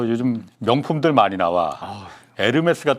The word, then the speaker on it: 에르메스: 그래서 나 처음에는 에르메스 잘 몰라갖고 헤르메스가 유명한 거냐? 그랬더니 애치는 묵음이거든요. 그러더라고요. 통상 헤르메스로 발음하는 분들이 많죠. 예. 나 헤르메스인 줄 알았어. H로 시작하니까.